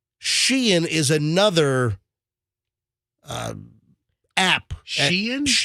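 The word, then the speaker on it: Shein: Sheen. It's S. A lot of people say Shine. Yeah. But it's actually sheen. It's s e i n. But it it's pronounced sheen, but people call it shine.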